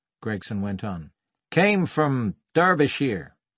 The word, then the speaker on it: Derbyshire: went on came from Derbyshire he pronounced the e as in clergy and shy came out as sheer you know it he